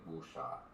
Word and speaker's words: wuxia: So for people like that, you can just say wuxia. Say the first syllable like wu, and then the last syllable like sha.